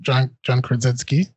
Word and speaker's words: Krasinski: First and foremost, so I've watched a couple of things about John Krasinski.